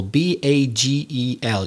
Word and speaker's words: bagel: with with america bagel b-a-g-e-l yeah you pronounce it differently in spanish in english it's bagel and i understand that